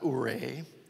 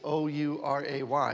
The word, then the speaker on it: Ouray: Not Ouray, as most people pronounce it. It's O-U-R-A-Y.